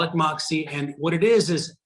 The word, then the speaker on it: Moxy: is something we call moxie and it's spelled m-o-x-y and we call it moxie for two reasons one